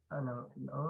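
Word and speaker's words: を: Pag particle lang, basa niya na ay O. Pag i-pronounce niya, pero O, yan siya. Wo yung spelling niya, pero yung pagbasa is O.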